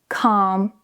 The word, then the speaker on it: calm: When you have the combination of A and L together, the L is usually silent. For example, calm, half, talk, walk.